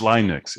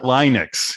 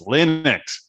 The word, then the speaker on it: Linux: even linux they're like it's linux it's not linex it's linux yeah jeremy yeah jeremy